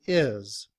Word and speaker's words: his: However, in reduced form, we don't pronounce the H. We just say is.